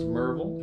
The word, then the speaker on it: Maryville: Last week it was Steve Kaufman's acoustic camp in Monroe, Tennessee, spelled Maryville, pronounced Merville. We had a lovely time at Merville College there, bordering the Great Smoky Mountains.